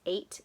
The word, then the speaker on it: eight: an interesting word because it has a G in it but the G is silent you don't hear it can you think of a way to use eight in a sentence I